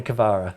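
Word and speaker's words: Kvara: have pronounced it wrong in his own words just call me cavara that's what he said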